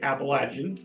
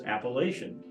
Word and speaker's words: Appalachian: general division line of folks that say Appalachian versus appellation and that's kind of Interstate 64 as it runs through the Shenandoah Valley here in Virginia uh and in the mountains dividing line yeah books on the North side say Appalachian folks on the southern side yeah and it's true